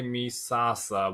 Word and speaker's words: Misasa: than that in English misasa or misasa misasa I I I would say misasa would be a standard way of pronouncing yeah in English misasa like Mufasa and uh I can't